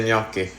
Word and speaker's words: gnocchi: Marzia, how do you say gnocchi?